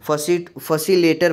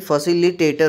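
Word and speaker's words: facilitator: मान लीजिए आपने कोई भी प्रोनाउंसिएशन, जैसे मैक्सिमम बच्चे फैसिलिटेटर जो होते हैं, फैसिलेटर बोलते हैं, ठीक है, फैसिलेटर बोलते हैं, तो फैसिलेटर नहीं, फैसिलिटेटर होता है, ठीक है।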